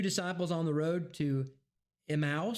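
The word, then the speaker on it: Emmaus: on the road to Emos is that how you pronounce that emmus yeah Emus I I know I always mispronounced that emmus Luke 24:13-35 and seven disciples by of the Sea of Galilee.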